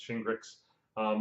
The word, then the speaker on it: Shingrix: virus vaccination called shingles meets grits um and that's how you pronounce it shingrix this is a sub